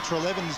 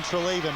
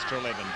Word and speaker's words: Treleven: the week saying that we'd been mispronouncing Wayne Treleven's name. I just wonder whether that was you or Wally that have been mispronouncing it as Wayne Treleven, but apologies to Wayne. Wayne said he didn't mind, actually. He said he can call him either way, but the actual correct pronunciation is Treleven, so it'll be Treleven from now on.